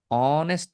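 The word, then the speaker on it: honest: তো এখন অনেস্ট লিখার আগে আমাকে দেখতে হবে আর্টিকেলের ব্যবহার। এন হয়ে যাবে কারণ এইচ উচ্চারণ হচ্ছে না।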